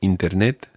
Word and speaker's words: internet: But in Spanish, the I sound always is an E sound.